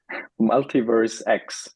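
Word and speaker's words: MultiversX: Is it Multiverse X, or how do you say it? Is it Multiverse or Multiverse X? Multiverse X.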